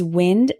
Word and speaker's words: wind: Christmas present tear tear our next one is wind and wind wind means moving air for example